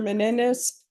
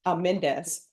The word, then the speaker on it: Mendes: Mr. Menendez Mendes and I don't know why I'm adding extra syllables.